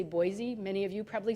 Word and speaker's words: Boise: Other examples would be like Idaho, Boise, Idaho. People in Idaho say Boise. I say Boise.